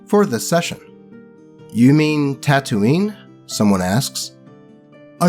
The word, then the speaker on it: Tatooine: Yes, he pronounces it as Tatooine, not Tatooine.